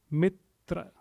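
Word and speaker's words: मित्र: and please repeat it twice let's first just pronounce them the first word Mitra Mitra Mitra so T is without a wobble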